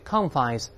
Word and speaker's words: confines: 这里 confines 重音在前面，习惯用复数，跟本文中这用法是一样的。